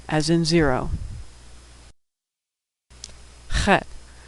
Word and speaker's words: Chet: Chet, which makes a sound that doesn't occur in English, but sounds like the German ach.